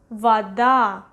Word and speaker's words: вода: Вода, вода, вода. Stress is over here, that's why this O we pronounce as A, вода.